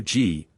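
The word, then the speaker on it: gee: who watches vacant Motorcars a g or G it is pronounced G the accomplice of a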